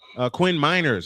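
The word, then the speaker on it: Quinn Meinerz: Quinn Miners. I mispronounced that.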